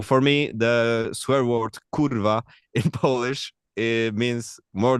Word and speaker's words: kurwa: Kurwa.